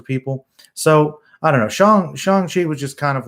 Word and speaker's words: Shang-Chi: and by the way, I realized it was Shang-Chi by watching the film. I thought it was Shang-Chi because I guess I just didn't know the Chinese pronunciation, but it is Shang-Chi.